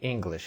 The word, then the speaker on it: English: I understand English. Repita, por favor. I understand English. E repara aqui o jeito que nós pronunciamos English. English é English com som de I de igreja e não English ou English.